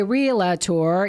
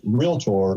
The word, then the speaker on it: realtor: that's right thank you you don't hire a relator you don't go to a daca tour it's